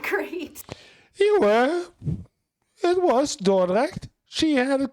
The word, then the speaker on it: Dordrecht: We stayed with family in Dordrecht, and yeah, my pronunciation's not great. You were. It was Dordrecht.